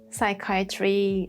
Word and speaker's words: psychiatry: Psychiatry, psychology, we talked about them before. Yeah. But you see both P and H are silent.